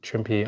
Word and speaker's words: Trimpe: No, it's not. There's no accent on the E. Trimpe on October 13, 2014, and Stan the Man, November 2nd, 2014, and Frank Miller on Feb 2026.